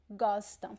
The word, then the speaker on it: gostam: Gostam. Pay attention to the pronunciation. See that I don't pronounce the M at the end of words. It's gostam. Gostam. Gostam. It's just a nasal sound.